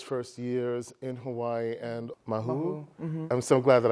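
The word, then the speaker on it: Māhū: So I wanted to tell us a little bit about those first years in Hawaii and Mahu. Mm-hmm. I'm so glad that I pronounced it properly, Mahu, and tell the folks what that means.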